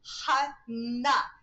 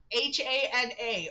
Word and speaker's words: Hana: Well, it's definitely going to be Hana, but he's probably going to pronounce it Hannah because he's white. But hopefully, me going Hana, Hana, rhymes with gonna, is going to make him actually pronounce it right.